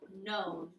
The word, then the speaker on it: known: That K is silent, like old and new. Past participle, known.